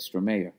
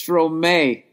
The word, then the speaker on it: Stromae: That's how you say it? Stromayor. No. My God, I'm an idiot. Oh, my God, I'm a fucking idiot. It's Stromae.